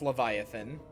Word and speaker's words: Leviathan: Yeah, that's he's saying it wrong. It's Leviathan.